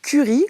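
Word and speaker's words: Kuri: dont on va parler elle s'appelle curry comme la fameuse équipe épices mais ça s'écrit K u R i attention et ça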